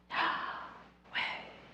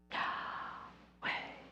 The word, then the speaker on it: Yahweh: Biblical scholars note how the pronunciation of the divine name Yahweh incorporates the breath as we inhale with the first syllable and exhale with the second. Yahweh. Yahweh.